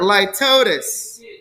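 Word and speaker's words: litotes: a paradox lypatis or litotis for number 12. by the way we pronounce that as light at ease with a z if you pronounce it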